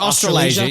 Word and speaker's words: Australasia: How do you pronounce it? Australasia, yeah, which I looked this up.